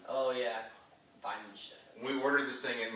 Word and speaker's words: Weihenstephaner: How do you pronounce it, David? Because it's definitely a fun German name to say. Weihenstephaner. Oh yeah, Weihenstephaner.